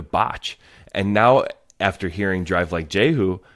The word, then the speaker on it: Drive Like Jehu: Is it Drives Like Jehu or Drive Like Jehu? Drive. There's no Drive O's.